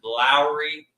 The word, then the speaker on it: Lauri: People used to pronounce his name Lauri, even I did. But his name is Lauri Markkanen, and it's time to put some respect